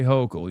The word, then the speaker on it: Hochul: Say Hochul. You're saying it wrong.